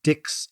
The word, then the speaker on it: Dix: talking exactly right so the English speakers looked at Dix and pronounced it phonetically as Dix whereas the French pronounce is d right Dixie became the